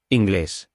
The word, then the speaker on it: inglés: And if we are male, we say English. And if we're female, we say has an accent. So the stress is placed where the accent is on the last syllable.